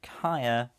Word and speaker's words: Kaya: generous enough to put kaya not kaia sidra right behind in